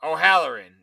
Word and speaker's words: O'Halloran: Did I say his name wrong? No, O'Halloran.